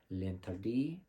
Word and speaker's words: L'Interdit: And it did take me a while to learn how to properly pronounce that, so don't come for me. I did watch the video, and it's L'Interdit by Givenchy.